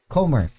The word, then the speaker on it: Comer: uh jodi ko komar corner how do you pronounce it comer jody mary comer uh taika waititi lily ray